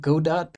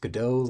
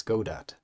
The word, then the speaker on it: Godot: it I call it Go dot so I want discuss so much about state of Godot this time because it's it's supposed to rhyme with robot though many insist it should be pronounced gdau like the Samuel Becket